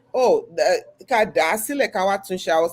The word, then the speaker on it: Kádàásílẹ̀ káwá: It's "Kádàásílẹ̀ káwá Okay.